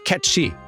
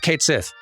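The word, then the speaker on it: Cait Sith: And it's supposed to be pronounced more like Ketchi. But then it was announced from Square that it is actually just pronounced Kate Sith, which is honestly an even weirder choice, but so be it.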